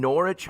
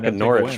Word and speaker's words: Norwich: also norwich man you don't have to pronounce the w i love when i